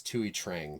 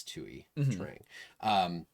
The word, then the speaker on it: Thuy Trang: I will say, I believe it's Thuy Trang, by the way. I believe that's how you say her name. It's Vietnamese. Thuy. I think it's Thuy Trang.